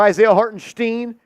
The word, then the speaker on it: Isaiah Hartenstein: wall I don't say Isaiah hartenstein or Isaiah hartenstein because the way he says his name is Isaiah hartenstein so I'm going to call him Isaiah hartenstein he says his name that way I'm going to say